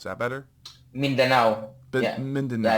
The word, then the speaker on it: Mindanao: Yeah, Mindanao.